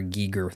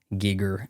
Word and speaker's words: Giger: um oh another HR Giger that's how you pronounce it by the way YouTubers gigger gigger design film um gosh